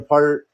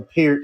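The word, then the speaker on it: Peart: know you got Neil per or Neil Neil Pier is actually how you say it but uh like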